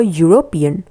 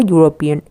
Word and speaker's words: European: the Y sound for European. We usually say an ellipse, an elephant. It's actually a sound for E. But here, E is pronounced as U, European.